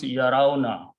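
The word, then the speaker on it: يَرَوْنَ: So what happens is that when you make the grammar of this word, both of those weak letters fall off, they are not pronounced. Only ra is left. Okay. The word becomes yarauna.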